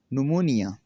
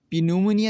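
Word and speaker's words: pneumonia: Rule number three ये है कि अगर किसी लफ्ज में एन या एस से पहले पी आता है तो पी हमेशा साइलेंट रहता है। कैसे? कैसे साइलेंट रहता है? इसकी भी दर मिसाल दी हुई है। निमोनिया निमोनिया यह पिनमोनिया नहीं पढ़ा जाएगा। यह निमोनिया पढ़ाया जाएगा।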